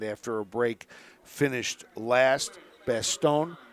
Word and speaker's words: Bastogne: Bastogne, if you pronounce it by the French pronunciation, you have to add the ya at the end of it.